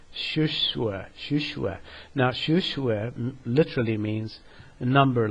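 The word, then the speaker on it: 数学: In Chinese, the way mathematics is pronounced is shushue.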